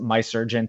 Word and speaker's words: Mahserejian: It's a play on the last name Mahserejian, but I pronounce it My Surgeon to anglicize it.